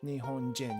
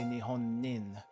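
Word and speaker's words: 日本人: Jin pronunciation is us so nion Jin you don't say nion nin doesn't make sense in in most cases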